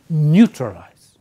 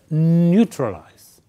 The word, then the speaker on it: neutralize: you pronounce the word when you say the word focus on the first part say neutralize in stress neutralize right good so what